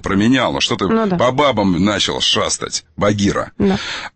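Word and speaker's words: Bagheera: Имя Багирах пишется B-A-G-E-E-R-A-H. То есть там Рах сзади. Там главное, Багирах. Что это значит для переводится, фар. Переводится и читается по-русски как Багир. Это имя, Багир.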